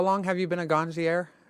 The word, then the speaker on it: ganjier: so how long have you been a ganjier? Did I pronounce that right? Almost. Ganjier? People say it a lot of different ways. I say ganjier. I hear ganjier.